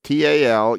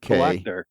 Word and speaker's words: Talukdar: So and, his last name is Talukdar. Talak. TAL UK. Talakdar. Talukdar. There's 3 syllables.